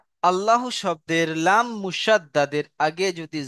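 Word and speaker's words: الله: আল্লাহ শব্দের লাম মুসাদ্দাদের আগে জের এসেছে, আল্লাহ শব্দের লাম মুসাদ্দাদের আগে জের এসেছে, তাই আল্লাহ শব্দের লামকে বারিক অর্থাৎ লা পড়তে হয়।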